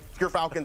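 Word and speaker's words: Gyrfalcon: But Gerfalcons, everyone, so anyone who mispronounces it, that's how you say it.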